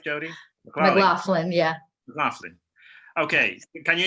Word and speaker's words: McLaughlin: Am I pronouncing it right, Jody? McLaughlin, yeah.